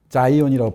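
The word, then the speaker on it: Zion: 자이온이라고 발음하는, 영어로는.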